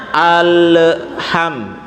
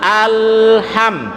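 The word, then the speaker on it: الحمد: urutan waktunya jadi bacanya Ale HAM data itu tadi ibu ini bacanya Ale HAM jadinya alham tapi yang benar itu adalah alham alham wilayah alham Jadi bukan Ale Ham tapi hal HAM tuh yang kedua alham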